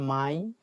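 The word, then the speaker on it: Mai: মে হচ্ছে মাই।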